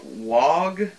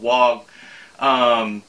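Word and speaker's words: Waugh: I think it's called Wog. Yeah, that's it. Or Wah. W-A-U-G-H. When I lived in Maine, I believe there was a place called Wog, that's how you pronounce it, but it might be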